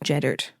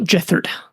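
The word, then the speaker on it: Jethart: And at this point, it would have been Jeddart, or it's spelled Gethart, but I think it's pronounced Jeddart. Not Jethard. I don't think so, but I always get it wrong.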